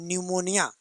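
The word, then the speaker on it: pneumonia: को हम कहते हैं निमोनिया। निमोनिया को जब लिखने जाएंगे तो स्पेलिंग शुरू होता है पी से। पी निमोनिया कहते हैं उसको।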